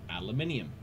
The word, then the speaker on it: aluminium: The other way to pronounce that is aluminium. You have to spell it that way, though, I think. Aluminium. Aluminium. It's the Cockney way to say it.